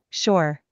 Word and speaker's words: sure: Sure. If I click on it, it tells me the correct pronunciation. Don't say chur, say sure. Sure, sure.